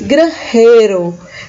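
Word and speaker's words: granjero: profissão de agricultor certo espanhol se diz grande cheiro é uma das que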